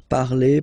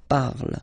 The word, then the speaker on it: parle: it is je parle, parle. So remember, we put it, okay, but then we don't really pronounce it, je parle, okay.